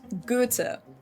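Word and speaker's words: Goethe: I've heard it pronounced different ways here in the US. I think I've heard go or even go, but in German it's actually pronounced gout.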